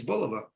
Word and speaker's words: Bulova: wrong uh but certainly from the American point of view and the New York point of view because we're a New York based company um it's Bulova I mean and that's that's that's that's that's how we say it in the office it's Bulova all right well that's